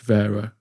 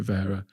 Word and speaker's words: Wera: the uh uh podcast it's pronounced Vera you should call it Vera but we're not going